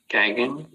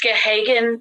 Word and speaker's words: Gahagan: So I'll order that home study be done on Gagan. I may be mispronouncing it. Is that? It's Gahagan, and the way that